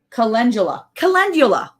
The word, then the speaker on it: Calendula: Calendula. It's just like it's spelled.